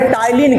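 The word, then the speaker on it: ptyalin: जिसको एमाइलेज जिसको दूसरी भाषा में टाइलीन कहते हैं। क्या कहते हैं? टाइलीन। अब इसका काम क्या है? इसका काम क्या है? हैं। हां टलीन पी साइलेंट है।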